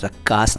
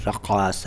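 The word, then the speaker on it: रक़्क़ास: रक्कास अरबी से आया हुआ शब्द है, इसमें भी प्रोनाउंसिएशन का ध्यान रखिए। मैं रक्कास नहीं बोल रहा हूँ, मैं बोल रहा हूँ रक्कास।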